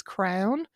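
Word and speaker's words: crann: the irish retreat is crown um it's spelled c or a n n but pronounced like you know the crown that uh king or queen would worse and it's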